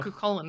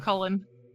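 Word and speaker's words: Cú Chulainn: Cucullin is pronounced.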